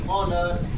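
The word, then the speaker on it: honour: उसी तरह ऑनर में भी एच के बाद वॉवेल का प्रयोग हो रहा है, अतः एच यहाँ साइलेंट है। और इसको हम कैसे पढ़ेंगे, एच को छोड़ के इसका उसका उच्चारण करेंगे, ऑनेस्ट, आवर, ऑनर एंड।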